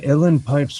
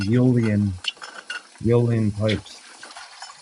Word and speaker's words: Uilleann: a lot of people pronounce it like that, but it looks like Uilleann pipes. I think it's pronounced Uilleann pipes.